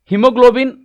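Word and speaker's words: haemoglobin: it says here ए हमने यहां पे ए साइलेंट कर रखा है वैसे ही बी क्रम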